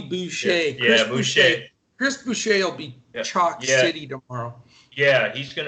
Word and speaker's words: Boucher: um and then also is it boucher is that the right pronunciation yeah just like bobby boucher yeah chris yeah he's